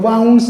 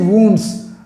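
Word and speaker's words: wounds: कई बार इसको लोग वाउंड्स या कुछ और पढ़ते हैं, the correct pronunciation is वुंड्स, right, वुंड्स।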